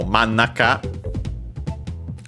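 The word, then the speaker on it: 真ん中: And yeah, so mannaka, actually an accent, so be careful.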